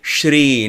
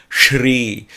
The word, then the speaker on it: Sri: a person says okay say sri not shri because in sanskrit sir that is sure that is sure there are so many variations so simply saying sri or shri or shri